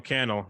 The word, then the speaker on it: Cannell: to his content um Sean Cannell rhymes with YouTube channel um Sean you could